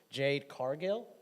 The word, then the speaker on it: Jade Cargill: So the last matchup we're going to look at in this segment, correct me if I'm wrong on the name pronunciation, Jade Cargill?